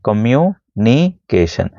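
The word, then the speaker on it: communication: आएगा कमशन ठीक है बड़ी स्पेलिंग है ना उसको तोड़ के पढ़ा जाता है कम नीिकेशन। तो, तब भी हो जाएगा टी यहां पर शांत रहता है।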